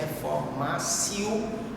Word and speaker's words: reformatio: A pronúncia correta no latim é reformatio, que o T tem um som de C, reformatio impejus.